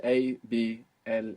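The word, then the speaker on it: hablar: collabor collabor good collor abl is to speak in Spanish abl it's spelled h a b l a r what's happening with that H silent totally silent abl how do you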